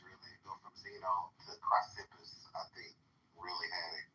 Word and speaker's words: Chrysippus: Cleanthes really go from Zeno to Chrysippus, I think, really had it kind of figured out. And then later It's pronounced Chrysippus.